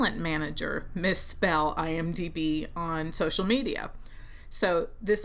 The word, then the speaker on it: IMDb: It is IMDb, not IMBD. And a way to remember it is that stands for Internet Movie Database.